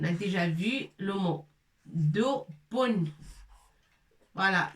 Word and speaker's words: دب: Dubun, l'ours. On a déjà vu le mot. Dubun. Voilà, c'est B avec shidda et avec tanwin. Avec tanwin.